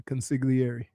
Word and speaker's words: consigliere: Consigliere. What are you, Tony Soprano? Yeah. The G silent. No, it's not. It's like lasagna.